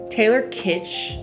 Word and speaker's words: Taylor Kitsch: So John Carter stars Taylor Kitsch, I believe is how you pronounce that, in the title role, Lynn Collins,